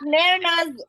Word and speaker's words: Mehrnaz: So it's Mehrnaz. The Z is pronounced actually. Oh, is it Mehrnaz?